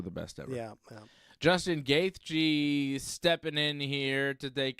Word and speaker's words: Gaethje: How do you pronounce this guy's name? Justin, the highlight Gaethje. Justin, the highlight Gaethje.